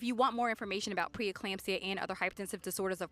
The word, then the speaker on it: preeclampsia: that's a big word folks p and it's pronounced preeclampsia it can be deadly you need to be